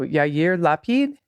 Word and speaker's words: Yair Lapid: you say it uh okay here we go yair lapid uh-huh I'm so I'm so bad I'm so